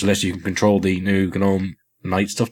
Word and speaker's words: GNOME: There's a nightlight applet as well, which lets you control the new GNOME night stuff. Did I just say GNOME? I actually said it right.